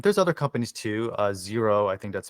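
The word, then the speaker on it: Xero: basically QuickBooks Online there's other companies too uh zero I think that's spelled x e r o is another one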